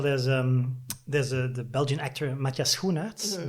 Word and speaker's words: Schoenaerts: the Belgian actor Matthias Schoenaerts. The sch is really hard to pronounce because you don't have it. Yeah. The closest you have is like school, but it's like a hard K.